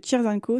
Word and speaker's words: Cheers and Co: Et là la particularité c'est que Cheers and Co, s'écrit c h e e r s n c o. Ah cheers co à l'anglaise.